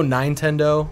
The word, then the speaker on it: Nintendo: nice yeah like there's another one I heard recently - Nintendo 910 doh yeah well I feel